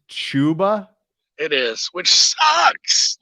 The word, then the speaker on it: Chuba: when you've been drinking it's pronounced chuba it is which sucks like it just ruins it um more anytime touchdown plus 250.